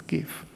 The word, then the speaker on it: GIF: The proper pronunciation is GIF, and the pink color is transparent.